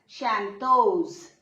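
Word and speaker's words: chanteuse: And this is Shantos. E would be silent here but S will give its sound.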